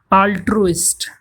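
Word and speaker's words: altruist: ऑल्ट्रुइस्ट, तो बोलने का तरीका देख लीजिए कहीं प्रोनाउंसिएशन में आपका नुकसान ना हो जाए। आल्ट्रुइस्ट, आल्ट्रुइस्ट वो पर्सन होता है जो भलाई करता है।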